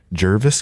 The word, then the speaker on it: Jervis: it Jervis Campbell it looks like Jarvis but it's an e okay he has great music and yeah it's it's got some good Christian themes in it and Jervis Campbell yeah I hope